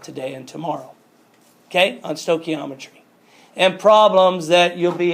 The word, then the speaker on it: stoichiometry: You guys know, anybody know how to pronounce that? Stoichiometry. Stoichiometry.